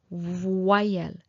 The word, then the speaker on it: voyelle: Well, a vowel in French is voyelle. Okay, voyelle. So, as you can see, O plus Y, voix, wa. It becomes wa, the sound wa, voyelle.